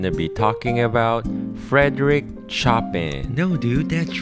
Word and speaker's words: Chopin: just gonna google it how to pronounce frederick shopkin frederick chopin oh it's frederick chopin yeah it's chopin now go redo the